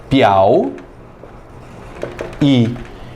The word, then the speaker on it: Piauí: Lá em Portugal, eles pronunciam a palavra Piauí de uma fonada só. Eles dizem piau e, formando, vocês acreditem, um tritongo.